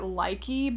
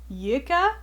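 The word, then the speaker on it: lykke: I've been calling it likey, but it sounds like Yika.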